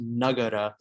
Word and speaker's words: Nagara: I might accidentally say Nagara, which like is actually like a Vrdhi derivative of the same word. But like it is apparently correctly pronounced Nagara.